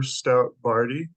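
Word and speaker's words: Stout-Bardy: Brady please State your full name and spell it out for the court reporter hi my name is Stout bardy It's s t o u t hyphen b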